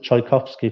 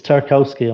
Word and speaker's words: Tarkowski: I know some people on some of the other West Ham fan shows pronounce it Tchaikovsky for some reason, but it's Tarkowski, I'm afraid.